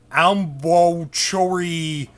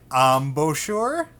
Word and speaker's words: embouchure: muscles embouchure lip muscles it is not elbow chori littmus Glee's new pronounce Bosher lip muscles okay make sure you're pronouncing it right embouchure is gonna come